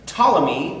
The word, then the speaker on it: Ptolemy: circumference of the earth ptolemy which you can see is spelled p-t-o-l-e-m-y um ptolemy was the